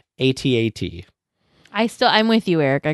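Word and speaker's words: AT-AT: The official pronunciation for ATAT is the phonetic one, as it rhymes with hat.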